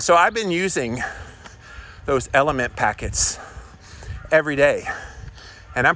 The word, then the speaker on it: LMNT: there's this great company called element it's spelled lmnt if you go to